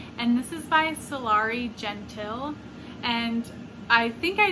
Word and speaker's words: Gentill: this is by solari gentile and i think i mispronounced it in the previous tbr video i said genteel but i think it's gentile and this is published